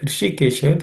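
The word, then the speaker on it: हृषीकेश: In the word Hrishikesha, the Hrishi is cerebral sha, so the tip of the tongue should point upwards towards the roof of the mouth.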